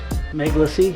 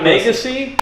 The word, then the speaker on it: Meglacy: Because it has Meglacy. legacy. Meglacy. If we say Meglacy, it sounds enough like the legacy. Meglacy. Oh, not Megacy.